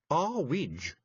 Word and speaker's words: Earwig: It's pronounced a widge, said Mrs.